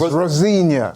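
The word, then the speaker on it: Rosenior: It's not Ros. It's Rosena. All right. Rosena, Liam, Matise, whatever you want to be called.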